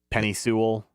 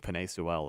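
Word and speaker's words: Penei Sewell: line they got uh penne Sewell Penny Sewell I think penne Sewell is is how you technically pronounce it um but then you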